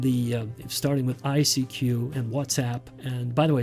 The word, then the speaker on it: WhatsApp: starting with ICQ and whatsapp and by the way it's pronounced whatsapp not what's up what's up means hello